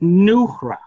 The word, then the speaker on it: Nuhra: I write every month for it, but my website is, it's an Aramaic word. It's pronounced Nuhra, Noohra.